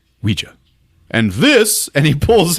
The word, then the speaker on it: Ouija: board what it's pronounced Ouija not Ouija Jesus I thought I wasn't the nerd it comes from the French and German words for yes we and yah Ouija and this and he